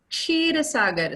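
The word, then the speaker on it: Kshirsagar: It is Ksheer Sagar, sir. Vishnu ji wala Ksheer Sagar.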